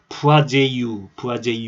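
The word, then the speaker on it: Poiseuille: 이 하겐포아젤이 다 프랑스 사람인데요. 푸아제유 이렇게 발음하는데 하겐포아젤입니다.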